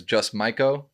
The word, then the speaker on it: Just Maiko: He's also known as Just Maiko.